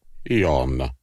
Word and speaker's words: Jan: Technically, my name is pronounced Jon, but I just go by Jan.